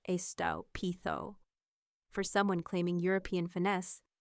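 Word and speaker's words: estúpido: He said estupido, like estopido, instead of the correct estopitho.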